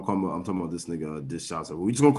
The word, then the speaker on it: DeShazor: His last name's Everett, obviously, but I guess his first name is pronounced DeShazor. DeShazor.